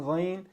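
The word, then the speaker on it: غين: Again, ghayn, the sound that ghayn makes does not exist in the English language. So many native English speakers, they have difficulty pronouncing this letter.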